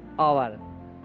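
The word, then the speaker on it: hour: देखिए एन, आवर, आपको पता है, जानते हैं आप कि आवर में एच होता है, एच से स्पेलिंग शुरू होती है, लेकिन साउंड जो है आपका वो आ है, आ, आवर, आर, ठीक है, एन, आवर।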